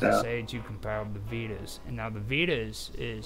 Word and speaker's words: Vedas: Vedas Vagasa. How do you spell it?